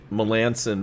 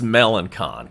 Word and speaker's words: Melancon: I know his name is pronounced Melanson, but I mean, it's Melancon.